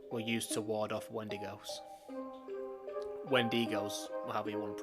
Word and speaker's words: Wendigo: and these symbols were used to ward off Wendigos. Wendigos, however you want to pronounce it.